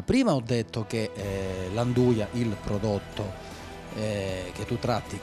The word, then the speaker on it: 'nduja: spilingesi avessero tipo anche la pronuncia del nome 'nduja, e solo qua Spilinga si pronuncia così, derivasse, ecco, proprio questa J letta come già.